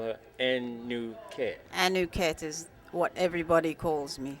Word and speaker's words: Anuket: her y'all but I'm going to let her pronounce her name fully will you do that for the audience certainly my name is anuket and the rest of that name was anuket